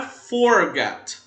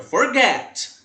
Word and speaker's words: forget: A pronúncia do verbo não é forget, forget. Não, é forget. Como get, que é a última sílaba, ela é a tônica, então nós vamos repetir o T e colocar ing.